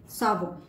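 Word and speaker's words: savon: इफ S comes in the beginning of a word, तब इसका उच्चारण और प्रोनाउंसिएशन होगा स से। For example, sac. Sac means बस्ता, बैग। सावो, बैग।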